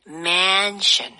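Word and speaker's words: mansion: 근데 A 발음을 어에 발음보다는 man션 아 man 그러면 우리가 왜 언급한다라고 할 때 m이 있잖아요. 걔보다 입모양이 조금 더 벌어지겠네요. 맞아요. 오 너무 좋아 선생님. 그래서 그 두 단어를 구별하셔야 돼요.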